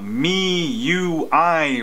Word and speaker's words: MIUI: I've got another ROM review of the uh me UI ROM that's how you pronounce it yes MIUI rom Mi I UI